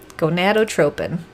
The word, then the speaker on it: gonadotropin: gonad okay and then the rest of it gonadotropin i'm a freaking pro kate you're making me you're making me look good i love it so much um gonadotropin there it is everybody now you know how